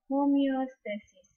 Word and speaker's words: homeostasis: Okay, kids, how to pronounce these words? This is homeostasis.